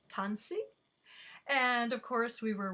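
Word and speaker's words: Tânisi: cree do you remember how to say it tanzi and of course we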